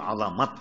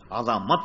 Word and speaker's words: عظمت: تو یہ لفظ عظمت ہے، واہ یہ مفتوح ہے، عظمت پڑھا جائے گا.